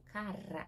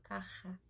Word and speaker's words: cara: Tá vendo que eu falo cara? Eu não falo carra. Carra. Então, já conheça o seu corpo na pronúncia das palavras que você já fala. Então, cara, cara, então treina e detalhe, um R sozinho em espanhol é R. E ele com dois é mais forte ainda.